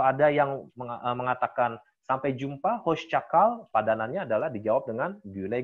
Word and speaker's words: hoşça kal: cakal percakapn kaos capai hoscakal hoscokro bagus karena di sini ada Syekh ya bukan pasca tapi host-host cakau hoscakal